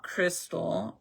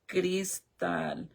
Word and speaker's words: Crystal: It's not Crystal. It's Gristal, but everybody has always called me Crystal. But I think they do it because my name is spelled C R Y S T A L.